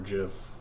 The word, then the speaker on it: GIF: He said it's pronounced like the peanut butter, which just made people upset.